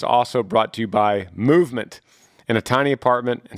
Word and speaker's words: MVMT: Movement, and that's spelled out MVMT is how they call it, MVMT, grew into the fastest growing watch brand, shipping to over 160 companies across the globe.